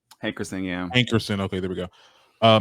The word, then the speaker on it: Hankerson: okay so apparently elia's uncle and manager barry heckerson made a new social media page did i say it right hey christina hankerson okay there we go uh made a new